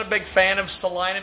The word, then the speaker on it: Salina: a big fan of Salina because it rhymes with vagina but the thing is